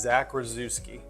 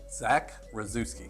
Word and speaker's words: Rozewski: or RZ but uh my last name is Zach rozewski Zach razewski yeah okay we know that second Z we like to throw in there but phonetically it's it is it's Zach rozewski okay I think we